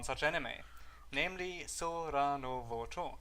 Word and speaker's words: Sora no Woto: Today we are going to talk about one such anime, namely Sora no Woto. It's pronounced Sora no Sky.